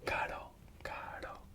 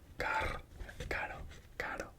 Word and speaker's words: caro: But if it's between vocals and it's not in the start of the word, it's pronounced caro, caro. It's not it's caro, caro, which means expensive.